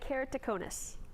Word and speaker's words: keratoconus: Now, help us understand keratoconus. And you pronounced it very well.